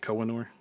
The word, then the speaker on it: Koh-i-Noor: So, the curse of the Koh-i-Noor is that how you pronounce it? Koh-i-Noor? Or? Yeah, you killed it.